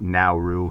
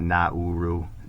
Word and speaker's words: Nauru: And it is pronounced Nauru, not Nauru. The NAU is a now.